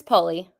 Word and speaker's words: Poly: say your last name how do you say it it's poly okay kada poly is married